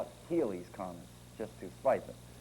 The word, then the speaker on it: Halley: Haley's Holl's it's pronounced some people with the H A L L E Y spelling in England pronounce it Holly others pronounce it Halley I'm going to call it Haley's comments just to spice